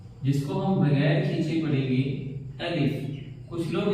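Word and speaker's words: بے: इसके बाद बे, इसको हम बारीक पढ़ेंगे और हल्का सा खींच कर पढ़ेंगे बे। ब भी आप हिंदी में कह सकते हैं।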